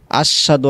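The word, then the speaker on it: أشهد: আপনি যদি বলেন আশহাদু আল্লা ইলাহা ইল্লাল্লাহ, অর্থাৎ হাট আপনি ছেড়ে দিলেন, হবে না, ভুল হবে। বলতে হবে আশহাদু আল, আশ হা, হাটা উচ্চারণ করতে হবে।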